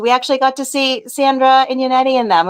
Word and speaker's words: Sandra: It's not Sarah. It's Sandra.